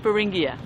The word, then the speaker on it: Beringia: This is Racing Beringia. Okay, spell it.